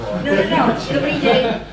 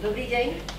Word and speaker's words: dobrý deň: Dobrý deň. Okay, can you answer dobrý deň? Or are you Slovak? No. No. Dobrý deň. Oh, wonderful. Dobrý deň.